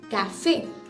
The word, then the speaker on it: café: For instance, in the word like café, C-A-F-E, accent aigu. So it gives us the sound of A, café.